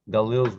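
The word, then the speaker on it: גליל: gaul gali gali galil galil's the hebrew word the english word galilee comes out of it i don't know why somebody added the e sound to galilee it's galil or galil but anyway i didn't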